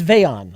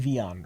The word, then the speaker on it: Vayon: It's Vayon. I was saying Vion earlier. It's spelled with an E? Why wouldn't I say Vion?